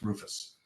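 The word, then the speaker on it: RRFS: the rapid refresh system which we pronounce Rufus the development started many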